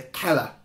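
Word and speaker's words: cella: is known as a kella spelled c e l l a. In Latin C is pronounced with a k for those who don't know.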